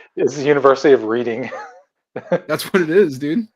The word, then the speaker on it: Reading: Dam dam Tony's right the town of reading is pronounced reading then how do you pronounce